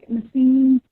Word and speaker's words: Naseem: I can pronounce my name like Naseem. Oh. Naseem. I just lost you. Say it again. I can hear you guys. Can you hear me? Naseem.